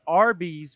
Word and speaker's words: Arby's: And originally they wanted to call it Big Tex, but they ended up choosing Arby's, which was a phonetic pronunciation of the letters R and B, short for Raffle Brothers.